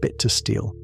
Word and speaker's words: Bittersteel: Aegon Rivers, known as Bittersteel, pronounced bit to steel, threw his full support behind Daemon Blackfyre.